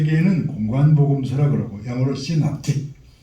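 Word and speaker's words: synoptic: 그래서 세 개는 공관복음서라 그러고 영어로 시납틱. 자, 발음해 봅시다.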